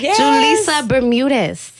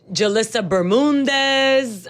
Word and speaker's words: Julissa Bermudez: saw to stop by julissa Bermudez see I said it right I said it right yeah a great action thank you do people mess it up they remix it every minute what's the craziest thing you've heard um jalisa Burman Dez no we ain't no